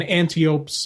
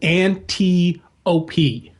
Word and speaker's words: Antiope: I actually, thinking about it, I would guess the I is pronounced with an E. Right. So Antiope. Right. Like I was saying, that's what I've thought too. Especially with how Hippolyta is pronounced.